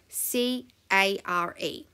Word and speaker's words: care: sound you are correct the a-r-e trigraph is making that air sound and i did put